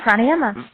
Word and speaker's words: Pranayama: English language butchered, but I guess it's called Pranayama. Am I getting that right? Yoga breathing? Pretty good. Yeah, Pranayama.